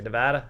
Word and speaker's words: Nevada: me what is it all these years here nevada nevada um here's what i would tell you